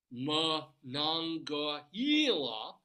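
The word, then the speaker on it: Monongahela: Village sat along the mananga hila and literally tell you how to pronounce it say mangila River the area was known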